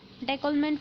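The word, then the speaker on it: décollement: ठीक है, फिर देखेंगे डेकोलमेंट फोल्ड, इसे हम डेकोल्मा फोल्ड प्रोनाउंस करेंगे।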